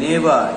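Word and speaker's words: neighbour: প্রতিবেশী, উচ্চারণটা খেয়াল করবে, নেবার, জি এইচ এর উচ্চারণ কিন্তু হয় না এখানে, আই অ্যাম ইওর নেবার,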